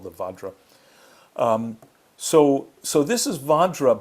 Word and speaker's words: vajra: that we've talked about benzera is actually vadra the word we were just talking about vadra which